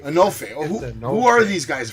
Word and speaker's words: Enofe: Well, tell me, Enofi, right? I said it right? I think it's Enofe. Enofe.